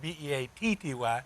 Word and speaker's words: Beatty: b-e-a-d-y the street is b-e-a-t-t-y God has an interesting thing you know that so it spelled differently but it's pronounced the same wow so uh again